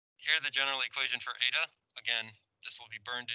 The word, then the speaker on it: eta: Okay, it's Greek variable eta, ETA. Pronounced eta. I don't know what else to say there. Here's the general equation for eta.